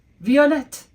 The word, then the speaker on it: violette: Violette. Violette. But wait, it sounds a little different, doesn't it? We have violet and violette because we've now added an E to make it feminine.